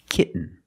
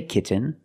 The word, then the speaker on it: kitten: practice with another sound when you have t-e-n t-o-n or t-a-i-n at the end of the word and the syllable is not stressed the T makes a different sound we have to make a stop T and Link it to the N example kitten you can